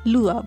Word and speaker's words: Le Havre: যাব ফ্রান্সের একটি জায়গা যার ফ্রেঞ্চ উচ্চারণ লুয়া এখন সকাল নটা মতো